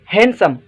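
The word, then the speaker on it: handsome: जो मतलब आए अलमारी आठ नंबर वर्ड आए हैंडसम हैंडसम ठीक सोते डी खामोश आए हैंडसम पढ़ब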